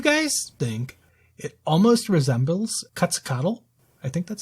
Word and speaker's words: Quetzalcoatl: Do you guys think it almost resembles Quetzalcoatl? I think that's how you say it. Quetzalcoatl, yeah, it's the Aztec god.